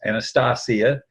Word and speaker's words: Anastasia: group was about Anastasia, and that's Anastasia, pronounced in Russian.